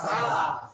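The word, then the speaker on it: ث: ছা।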